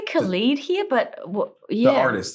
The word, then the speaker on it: Khalid: Well, what happened was it was a night that I don't know if you pronounce it Khalid or Khalid. We say Khalid here, but yeah.